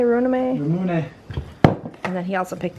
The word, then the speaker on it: Ramune: Runame? Ramune.